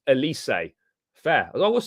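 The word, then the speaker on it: Élysée: phenomenal guys we really need that Elise is pronounced Elysee Fair as I was saying it do you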